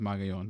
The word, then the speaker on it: Magallon: J A sorry JMA his last name is magayon but I know some